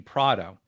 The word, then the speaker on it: Prato: Something that I've never shared is I believe the correct pronunciation of my last name is actually Prado, Prato. because it's from I think a town in Italy which my great grandparents came from or something like that. Similar to how Vito Corleone took his last name Corleone from a city or town in Italy. But yeah, so I believe it's correctly pronounced Prado, which interestingly enough, I